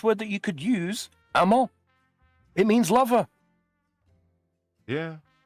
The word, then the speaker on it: amant: Amant. It means lover. Yeah. put an E on the end and pronounce the T if you want it to be feminine.